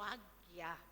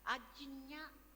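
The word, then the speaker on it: आज्ञा: Sesto è Agnya o Agya, perché ogni posto, ogni punto dell'India si dice in un modo diverso. Agnya sarebbe corretto, però molti dicono Agya o Agna.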